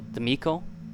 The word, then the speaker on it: D'Amico: I'm going with the more Italian pronunciation as opposed to the Spanish, so D'Amico.